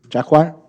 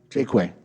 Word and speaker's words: Jakeway: Jacquard? How do I say it? Jakeway. It's the Q, it messes me up to Jakeway.